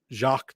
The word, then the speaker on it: Jacques: So you got Jacques Patrick. I believe I believe that's how it's pronounced, but unless it's Jack, but it's probably the French pronunciation of Jacques.